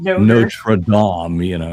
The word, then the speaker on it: Notre Dame: It's not a noter. It's actually a Notre Dame. If you really want to say it right.